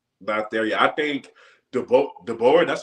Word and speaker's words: DeBoer: I think DeBoer, that's how you pronounce his last name.